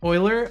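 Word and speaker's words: Euler: mine for the record I know it's Oiler angles I learned that from streaming actually I'm pretty sure you guys taught me that it's Oiler angles I want to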